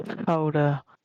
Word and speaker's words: Gouda: The village of Gouda. Give me a slight second. Pronounced Howder.